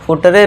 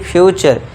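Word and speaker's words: future: फुटरे नहीं फ्यूचर। Last में इ है। इसको हम इग्नोर कर रहे हैं। इ को सभी जगह इग्नोर करना है।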